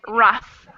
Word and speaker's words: rough: my tongue come out but for this word it's rough and i'm biting my lip for that last syllable rough rough you know